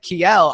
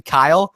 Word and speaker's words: Kyle: I was like, Kiel. I was trying to like pronounce it ethnically. And then he was like, Ashton, it's actually Kyle.